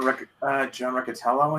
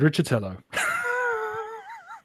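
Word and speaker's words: Riccitiello: I mean, EA, during the guy John John Riccatello, I think. yes, that surname that I always pronounce it Richatello.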